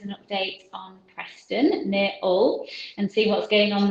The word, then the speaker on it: Hull: That's interesting from a Beverley girl, well, Nottingham girl, using the correct pronunciation of Hull without the H.